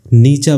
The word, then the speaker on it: Nietzsche: pronounce किया जाए तो पहला सिलेबल नी बोला जाना चाहिए और दूसरा सिलेबल चा बोला जाना चाहिए तो दोनों सिलेबस मिलकर नीचा बनाते हैं तो इस प्रॉब्लम को